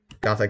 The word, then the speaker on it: Gotha: translation i call it i call it a gothic critique because that's how i see everybody else saying it and like i think that's like the actual german pronunciation got that critique huh oh i'm calling